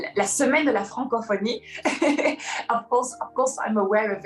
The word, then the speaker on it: Francophonie: Francophonie. Did I pronounce it correctly?